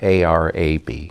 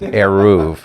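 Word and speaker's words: eruv: war over an aru, which is spelled e r u v. It's not a r a b. It's aruv, not arab.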